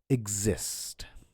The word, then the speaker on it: exist: For stressed syllables, when X comes before a stressed syllable, it makes a GZ sound. So the example would be example, just as I said, or examine. And similarly, exist.